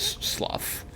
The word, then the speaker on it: slough: It's there's a few ways to pronounce it, but the most common way, at least in this context, is slough.